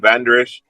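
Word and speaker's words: Vander Esch: It the way it's pronounced, they just call him Van Der Esch.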